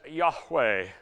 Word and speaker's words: Yahweh: That is the God of Abraham, the one who told Moses to call him I am, in Hebrew pronounced more or less as Yahweh.